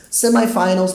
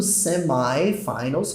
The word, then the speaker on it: semifinals: Semifinals pode ser pronunciado tanto semifinals quanto semifinals. Você vai ouvir as duas coisas. Principalmente no inglês britânico você vai ouvir semifinals. Mas é possível falar semifinals e tá correto também, tá?